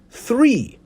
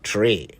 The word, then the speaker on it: three: of them this morning it's three not three it's six not C's it's 11 not 11.